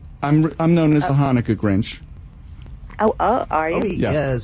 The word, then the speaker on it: Hanukkah: I do not like that when it's spelled with just an H because that's not how you say it. It's Hanukkah, right? Yeah.